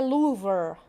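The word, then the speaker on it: Louvre: have the louver the louver according to the American pronunciation the louver what do you think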